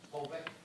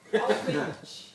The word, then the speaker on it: Holbeach: And so in third place was, do say if I get your name wrong, Jules, but Jules Holbeck. Not quite. Go on. Holbeck. No. Holbeach. Holbeach. Yeah.